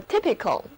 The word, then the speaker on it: typical: typical 这个时候字母 y 的读音就变成了短的 e，整个单词读作 typical。